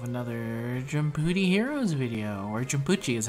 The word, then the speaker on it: Jumputi: i'm back with another jumpy heroes video where jabuchi is how it's actually pronounced uh today i'm gonna be summoning for